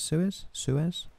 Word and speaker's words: Suez: That's how you say it, Suez.